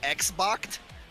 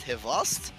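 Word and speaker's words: XBOCT: Best one I've seen was I saw Hivost, which is like a Russian name, pronounced Xboxed, because that's how it's spelled. But okay. But in like the Cyrillic alphabet, it's pronounced Hivost, and all the commentators,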